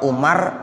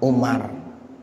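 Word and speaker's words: عمر: aja Bapak ya Ibu kalau Umar tulisannya Ain Meme amarok kalau Amr Ain Meme roam Abah Wow jadi WOW nya ada tuh habis rok kalau ada habis roknya Wow bacanya Amr kalau enggak ada Wow Bacanya apa Umar jadi bedanya begitu anaknya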